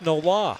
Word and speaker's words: Noel: If you see 41, you would think the name is Noel, right? Or yes. Noel? Yeah, you would. Noel or Noel, right? Yeah, exactly. Noel or Noel. It's pronounced Nola. Nola, yeah. Like New Orleans, Nola.